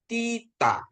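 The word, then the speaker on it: θήτα: Terus ada tita ya. Tita. Tita ya. Tita ya. Th juga seperti yang tadi di apa ya? Di D delta ya Bapak Ibu ya. Jadi ini juga T juga ya Tita ya.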